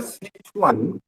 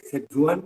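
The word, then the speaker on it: Sichuan: ঠিক কিন্তু উচ্চারণটা সিচুয়ান, চীনে চ এবং চীনে স আমরা উচ্চারণ করতে পারি, কাজেই সত্যি ওটাকে কথা, ওই যেরকম ইংলিশ থেকে সেজুয়ান আমরা বলে থাকি, ওই বলা ছাড়া বোধ হয় কোনো গতি নেই।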